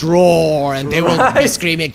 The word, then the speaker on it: RAWR: out from i think we are mispronouncing their name it's roar and they will be